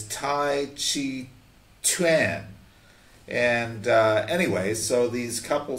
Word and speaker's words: taijiquan: Tai Chi Chuan, I think is how they say it. They don't say Tai Chi. It's Tai Chi Chuan.